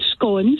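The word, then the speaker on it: scone: talking earlier on about I'm glad you said scon because we all know that's the correct way to say it SC yes yes um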